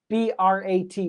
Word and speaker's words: brat: Now, like I said a couple couple weeks ago, the t sound at the end is actually a stop. You don't go br. B r a t. B brat. No, you say brat in stop.